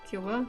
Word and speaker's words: Cuba: Cuba? No, not Q. Oh gosh, Cuba, right? That's how you say it in English, right?